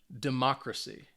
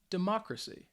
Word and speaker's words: democracy: gy the cal um and you can see that the stress is on the third to last syllable which means for these words it's on the second syllable so let's say these